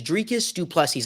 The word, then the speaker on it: Dricus Du Plessis: Guys, we've got a new UFC middleweight champion, and his name is Dricus Du Plessis.